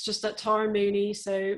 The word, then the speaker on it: Mooknee: It's just at Tara Mooney. So Moo spelled like cow moo, and then knee, like, you know, this, all one word.